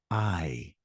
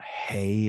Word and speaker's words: hay: Vamos a hablar de una palabra que es I. I. It sounds literally like in English, the word I, your eye. It's Hay. I. We don't pronounce the H. It's not hey or hi.